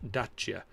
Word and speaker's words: Dacia: be i3 i3s and just small nipticdacia is pronounced dacha that's true that you yes i know over there uh depends on what part of the world you're in but we said dash yeah since it came in here uh it's